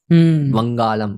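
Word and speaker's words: வங்காளம்: वंगालम, क्योंकि वो original pronunciation है वंगालम।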